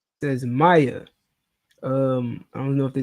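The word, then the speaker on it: Maia: I know it's supposed to be pronounced Maya, like MAY hyphen A.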